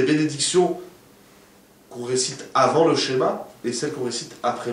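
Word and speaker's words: Shema: Il ne faut pas lire schéma, il faut lire schéma avec un haïd. Il faut accentuer le haïd. Schéma. Schéma, ça veut dire écoute.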